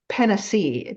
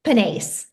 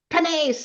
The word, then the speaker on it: Panase: going to pronounce it penac did I do that right close panace panace it's French almost I think it's Italian that's what my husband